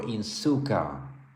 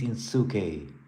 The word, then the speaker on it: Inosuke: Inosuke or Insuka. I get different pronunciations. People are saying different things. Yes, Ivo Robotnik. It is Inosuke.